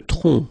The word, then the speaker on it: tronc: Le tronc, okay, remember, final C is not pronounced here.